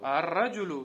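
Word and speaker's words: الرجل: Значит, аль не читается, да? А как читается? Ар-раджуду. Ар-раджулю. Там таштид, видишь же?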